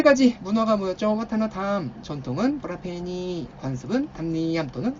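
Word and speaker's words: วัฒนธรรม: 와타나탐 하시면 요게 자, 마지막 판서니까 천천히 적어드려 볼게요. 와타나탐하면 여기 문화라는 뜻이 있고요. 와타나탐이지만 그냥 평성으로 편하게 다 와타나탐 합니다.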